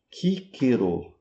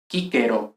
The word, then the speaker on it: Cicero: E como é que é pronunciado em latim? Quíquero completamente diferente. Ouçam, prestem bastante atenção na pronúncia dessa palavra. Cicero oficero islciation. How didero himself pronounce his own name? Kquero.